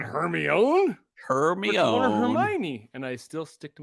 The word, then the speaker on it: Hermione: harry potter no hermione i pronounced this hear me own herbie own is that the movie i have no idea i don't know if anyone has named her not hermione hermione hermione and i still stick